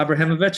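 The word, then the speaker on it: Abramowicz: Am I pronouncing that right? Yeah. Abramovich.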